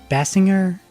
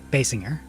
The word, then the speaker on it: Basinger: Basinger? No, Basinger.